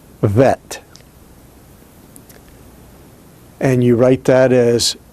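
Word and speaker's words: ב: And in that case, without the dogish, it is pronounced Vet.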